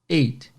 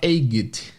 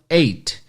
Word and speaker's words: eight: O número 8, a pronúncia é eight, né? Esse T bem discreto. E esse GH simplesmente é mudo, você não fala egged. O GH não existe. Então, eight.